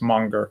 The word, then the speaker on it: Menger: people pronounce his name menger i'm m-e-n-g-e-r but i'm told that a better pronunciation of the austrian name is monger carl monger um and